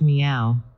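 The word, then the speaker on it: 妙: 69 384 Mystic principles the character Mio is rendered in Sanskrit by the word sad and in Chinese is pronounced meow Mio means fully endowed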